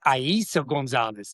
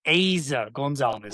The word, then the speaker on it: Eiza González: I was saying Eiza González. She went ahead and corrected everybody mispronouncing it and said it was Eiza González.